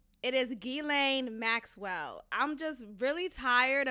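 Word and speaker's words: Ghislaine: it's gilan it is gilan Maxwell I'm just really tired of everyone saying gasoline gizan gizy Lane it's gain it's it's really not that hard guys the S is silent it's French it's FR okay F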